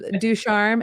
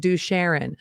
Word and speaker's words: Ducharme: Ducharme, everyone gets it wrong. And in Nashville, my favorite mispronounces is they said Ducharon.